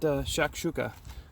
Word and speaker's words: shakshuka: so this is breakfast mediterranean breakfast sho not shakshuka hopefully i pronounce that right but again freeze dried meal